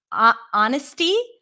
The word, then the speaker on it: honest: In American English, the H is not pronounced in the word herbs. Honesty, good, Victor.